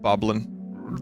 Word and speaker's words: Bokoblin: on his uniform goblins I believe it's pronounced vocabulin but I'll accept boblin Jeopardy would too these